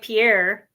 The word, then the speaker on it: Pierre: from around here Pier spelled like Pierre but pronounced correctly as Pier is our state capital